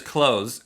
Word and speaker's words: clothes: Everyone says clothes, but technically, and I think you're kind of a jerk if you do say this correctly, but it's clothes.